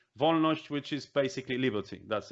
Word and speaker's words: Wolność: with pronunciation which means that that's v we don't have v letter in alphabet is v von neusch which is basically liberty